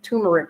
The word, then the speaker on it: turmeric: it was very good at tamaric Rice tum I'm call it t turmeric rice let's pronounce it right okay I want to